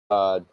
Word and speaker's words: Gad: It's a tribe of Gad, which is pronounced God.